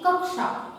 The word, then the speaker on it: कक्षा: इसे कक्षा नहीं पढ़ते, हम इसे कहते हैं कक्षा। तो इस क का उच्चारण जो है हमें सुनाई देता है, हमें स्पष्ट अनुभव होता है कि हमने क का उच्चारण, क के बाद आधे क का उच्चारण किया है, कक्षा।